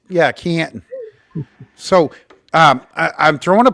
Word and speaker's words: Canton: n Canton you you it's a silent T though right yeah no it's yeah Canton so um I'm throwing